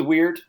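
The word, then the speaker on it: wyrd: like medieval lore where it's spelled weird with a Y sure and but then the question is what was the official pronunciation way back then you know I don't know but yeah let's go with weird I think you're probably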